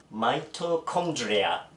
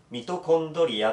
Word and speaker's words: mitochondria: で、発音がマイトコンドリア、ミトコンドリアとマイトコンドリ